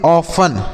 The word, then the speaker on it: often: अगला शब्द है बच्चों OFTEN, तो इसे हम पढ़ते हैं ऑफन। क्या पढ़ते हैं? ऑफन। यहाँ पर देखिए ये जो टी लिखा गया ना साइलेंट होता है, इसे नहीं पढ़ते। ऑफ्टन नहीं पढ़ते, ऑफन पढ़ते हैं।